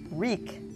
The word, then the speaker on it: Wreak: And next, "Wreak," meaning to inflict or exact, as to "wreak vengeance." (buzzer) Sam? (Sam) W-R-E-A-K. (Dr. Walton) Correct, with a silent W.